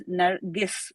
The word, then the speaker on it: Narges: inviting me here and I do pronounce my name as narus G versus J so that's there narus narus yes I'm so sorry thank you so much narus that's absolutely fine because